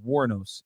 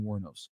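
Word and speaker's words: Wuornos: Sorry, guys. Pronounced Warnos. Aileen Warnos.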